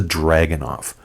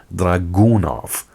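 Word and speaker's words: Dragunov: legally known as the dragon off now you're free to pronounce it any way you like but if you want to be proper about it it's actually pronounced dragoonov I'm not sure why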